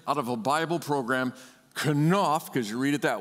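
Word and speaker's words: כנף: But the Hebrew word for wings in this verse is the word kanaf, kanaf, kanaf. Say that with me, kanaf. Okay, so accent on the second syllable, please.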